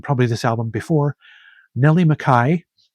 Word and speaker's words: McKay: I've mentioned this artist and probably this album before, Nelly Mcai. It's spelled McKay, but it's actually pronounced Mai with her album Get Away from Me.